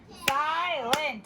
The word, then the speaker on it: silent: How many syllables? No, it's not. Silent. It's 2.